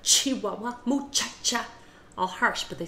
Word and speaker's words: muchacha: In Chihuahua, a lot of people, instead of pronouncing the CH harsh, like ch, ch, ch, they'll pronounce it as more like an SH. Chihuahua. Muchacha. Not muchacha, but muchacha. Chihuahua. It's a very, very soft way of pronouncing the word.